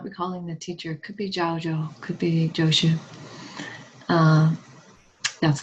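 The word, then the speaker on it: Zhaozhou: Could be Jaojo. Could be Joshua. Uh, that's the same one. Jaojo and Joosh. Jaojo is his Chinese name. Jooshu is his Japanese pronunciation of his name.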